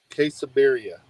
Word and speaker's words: quesabirria: Quesabirria? Quesabirria.